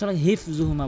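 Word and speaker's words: حِفْظُهُمَا: কুরসিয়ুহুস, কুরসিয়ু, কুরসিয়ুহুস সামাওয়াতি ওয়াল আরদ ওয়ালা ইয়াউদুহু হিফযুহুমা, অধিকাংশ হিফযুহুমা বলে, হিফ, হিফ ছোট হাইনে উচ্চারণ করে, বড় হাইনে উচ্চারণ করতে হবে।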